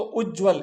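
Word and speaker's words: उज्ज्वल: उच्चारण उत ज्वल तो उज्जवल ये उज्जवल है ना कई बार परीक्षा में पूछा जाता है। ध्यान देना इसमें दो आधे-आधे ज आते हैं।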